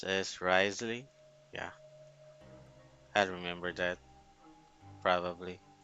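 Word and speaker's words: Wriothesley: or the grace something like that so it's pronounced as Risley yeah I remember that probably I know who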